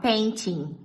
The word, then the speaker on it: painting: Olha como Will Smith fala painting. Painting my apartment. Painting my apartment. Painting my apartment. Ele fala painting, painting. Ele não fala o T, tá vendo?